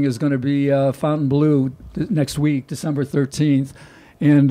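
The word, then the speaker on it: Fontainebleau: yelling at us again saying it's Fontaine Blue Fontaine Blue okay no it's not nobody calls it that it's spelled that way nobody says Fontaine Blue it's Fountain Blue okay so the rest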